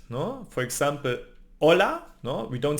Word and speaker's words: hola: silent no for example hola no we don't say hola we say Ola so always the H is silent the I it's like